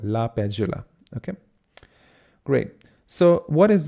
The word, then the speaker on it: LaPadula: and leonard la pejola a lot of people have difficulty pronouncing it even i wasn't sure the first time but when i checked it it's called la pejola okay great so what